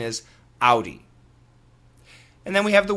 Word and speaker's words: Audi: the American pronunciation is Audi. And then we have the word O-U-T, out. And then we have the word C-O-W, cow. Now the vowel sounds in all 3 words are the same.